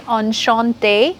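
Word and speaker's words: enchantée: so I will say enchanté. The pronunciation will be the same, but in writing, I'm going to add that small E without the bracket.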